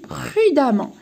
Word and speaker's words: prudemment: Et le E, هذا ال E ننطقها A. غير في النطق ننطقها A. في الكتابة نكتبها E بصح في النطق ننطقها A. Alors, et ça devient prudemment.